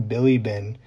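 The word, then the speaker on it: Bilibin: a man named ivan billy bin that last name is spelled b-i-l-i-b-i-n and he did the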